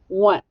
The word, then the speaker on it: once: e once now let's let's figure out how it sounds W that's right we hear W uh oh the o also makes the u sound duw short u n you hear the n s that's right it's an S do you hear the e no W once but it's spelled o n c e now let's trace it